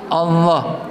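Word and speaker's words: الله: Allah, lidahnya menekan ke bibir. Allah, ke langit-langit. Allah, lihat lidahnya ke langit-langit sedikit. Allah, ya. Ini tidak pakai bergerak ini. Allah. Ya, lidah Anda tekankan ke langit-langit atas Allah.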